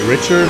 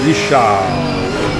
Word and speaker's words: Richard: I believe he's actually from Quebec, so I assume he is a French Canadian. And that would not be Richard, that would be Richard.